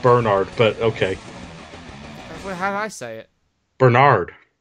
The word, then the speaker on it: Bernard: that's not how my name is prance it's pronounced Bernard but okay Bernard how do you say it Bernard that's not much of a difference it's it's